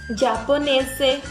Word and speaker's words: giapponese: O G e o I não se fala gi, tá? A gente pronuncia como se estivesse falando com um D. Então, fica di. Então, por exemplo, é giapponese. O G e o E também se fala G.